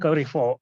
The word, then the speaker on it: Carrefour: And so Bahrain Carrefour, definitely this is, I hear some people calling it Carrefour.